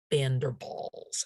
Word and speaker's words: van der Waals: a category known as bender balls and it's pronounced as if it were both both a v for the van and a b for the w-a-a-l-s because it's a german word so uh if if